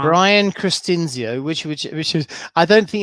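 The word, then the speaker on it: Christinzio: I'm going to try and pronounce his name. His name is Brian Cristinizio, I believe. Cristinzio. See, I said it wrong. Brian Cristinzio, which is, I don't think you're the first person to have trouble with that.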